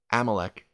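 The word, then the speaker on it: Abimelech: but I will be king amalec that's actually the correct pronunciation this time hopefully I stick with that AMC he his name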